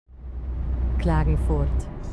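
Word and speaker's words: Klagenfurt: How How do you pronounce that? Clagenfort.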